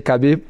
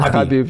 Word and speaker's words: Khabib: I know it's hard because everybody say Khabib, but his name Habib. Yes. Habib.